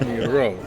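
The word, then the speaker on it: Miró: Accent on the O, so it's Miro.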